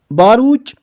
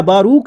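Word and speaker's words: Baruch: जिनका नाम है डॉक्टर बारूच या बारूक, जो आप प्रोनाउंस करना चाहोगे, बारूच बलमबर्ग।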